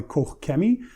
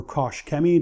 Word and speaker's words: Koch Chemie: Today I'm going to be applying the PSS, or the Plaststar by Koch Chemie, or Koch Chemie, depending on how you say it.